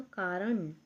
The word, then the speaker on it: कारण: यहां पर है एकदम कारण उच्चारण अलग होता है ण का ठीक है ना वही